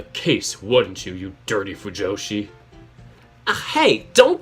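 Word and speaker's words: 腐女子: Oh, Fujoshi. Yeah, Fujoshi is right.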